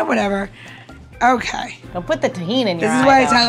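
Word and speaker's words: Tajín: are going to use a little bit of tahin which is one of my favorite um spices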